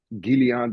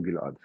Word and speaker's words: Gilad: I appreciate it, Yeah, it's like, whew, between pronouncing Gilad or Gilead, which will be the English biblical kind of way to say that. Gilad works. I will respond better to Gilad.